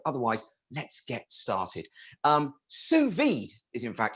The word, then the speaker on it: sous vide: let's get started um sous vide is in fact how it's pronounced it's french for under vacuum and today we're talking